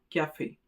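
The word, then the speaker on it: café: Without the axon eigu at the end on letter e the sound would be like a cf but but with its presence it becomes a cafe.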